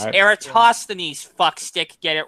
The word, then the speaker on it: Eratosthenes: They even tell us about Aristophanes and that he measured the circumference and came within 2%. Get of it current right. 24,000. Well, Jism does have a general problem with pronouncing names. It's Eratosthenes, fuckstick.